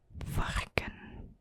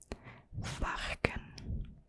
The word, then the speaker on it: varken: And a pig in Dutch is varken. Varken.